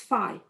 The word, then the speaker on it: phi: It's not omega, no, it's phi. Okay, it's phi. All right, so omega, that's omega. Okay, so it's a lot of time it's set phi.